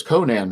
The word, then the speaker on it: Conan: And then like 2 months later, they got a letter and told him it was Conan, was the way it's pronounced.